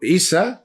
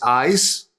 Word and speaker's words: Isa: Sí, por ejemplo, Isa es ice, es el hielo. La Isa es una línea vertical, significa, se lee así Isa, pero se podría pronunciar ice, como ice en alemán, pero nada más que se escribe distinto, se escribe eis.